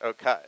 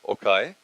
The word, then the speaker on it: Okay: Okai, spelled okay, but pronounced Okai. Hi everyone. Hello everyone. My name is Okai.